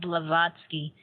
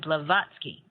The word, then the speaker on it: Blavatsky: say her name again for our audience Helena blavatsky uh b-l-a-v-a-t-a v-a-t-s-k-y blavatsky right fascinating individual but so the three aspects